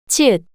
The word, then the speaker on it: 치읓: 지읒, 지읒, 지읒, 지읒, 지읒, 치읓, The name of this consonant is 치읓, 치읓, the same ch sound you make when you pronounce chicken.